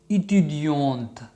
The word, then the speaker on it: étudiante: په آخر کې او اضافه کو او تی تلفظ کو. étudiante.